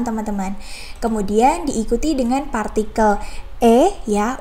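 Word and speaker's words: へ: kemudian diikuti dengan partikel eh ya untuk hiragananya adalah he ya teman-teman namun untuk partikel ini cara bacanya adalah e seperti itu kemudian ada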